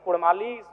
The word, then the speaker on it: कुड़माली: र के स्थान प अड़ किया जाए क्योंकि कुड़माली साहित्य की बात करें तो अड़ का महत्वपूर्ण